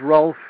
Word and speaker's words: Rolf: But, you know, it's Rolf.